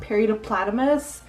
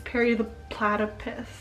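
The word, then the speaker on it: Perry the Platypus: It's Periodoplatypus, not Periodoplatymus. Okay.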